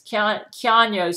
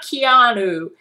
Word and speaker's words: Keanu: Keanu says, everybody pronounces my name wrong, Gail. It's not Keanu.